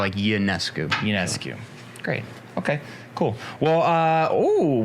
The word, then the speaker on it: Ionescu: For the first year that I knew of her existence, I pronounced it Ionescu. That's what I thought. So But it's Ionescu.